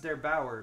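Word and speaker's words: der8auer: yesterday by, I believe his name is pronounced Der Bauer, but I hope I'm not wrong about that.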